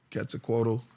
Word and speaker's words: Quetzalcoatl: Quetzalcoatl.